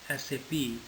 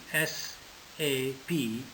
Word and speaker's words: SAP: how do you say sap so it is an initialism not an acronym therefore it is pronounced as individual letter s a p and not pronounced like